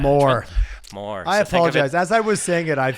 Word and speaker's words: Mawer: culture yeah absolutely well you did pronounce my name right um but you didn't pronounce a firm name right which is more investment man more more I apologize as